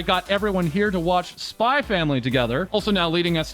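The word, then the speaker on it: SPY×FAMILY: And yes, as Miria with Kometa would make clear, it's pronounced Spy Family, no X or cross, but as Virgil may say, it is also maybe now known as Spy Times Family.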